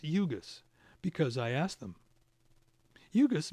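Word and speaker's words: Ugoos: 1.4 don 11 how do I know it's pronounced UGA's because I asked them jurgis means smart idea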